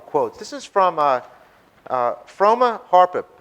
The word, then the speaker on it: Harrop: This is from Froma Harpip. I don't know how to pronounce it. It's Harrop.